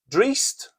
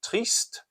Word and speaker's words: trist: Drist, uh, or in the south you might pronounce it trist.